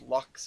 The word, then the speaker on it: Locke's: Pronounced Lux, if I remember right.